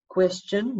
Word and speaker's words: question: So we've got question. Notice it's got a T-I-O-N, shin, question, shin, question, shin.